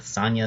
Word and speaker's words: Sonia: ever call her Sonia, which is how you would think that name would be pronounced based on the way it's spelled. But, you know, it's Sonia. Sonia, Sonia, Sonia.